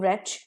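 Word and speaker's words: wretch: मुझे उल्टी आने लगी डब्ल्यू आरई टी सी एच रेच जिसमें डब्लू साइलेंट और डब्लू से ये वर्ड शुरू हो रहा है इसका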